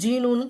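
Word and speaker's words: GNU: இப்போ ஜிஎன்யூ அப்படின்னா ஜீனூன்னு ப்ரொனவுன்ஸ் பண்ணுறாங்க.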